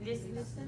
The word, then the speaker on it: listen: Listen. Oh, beautiful. The T is silent, basically.